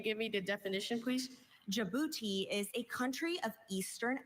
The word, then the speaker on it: Djibouti: Your word is Djibouti. Uh, can you give me the definition please? Djibouti is a country of eastern Africa on Bob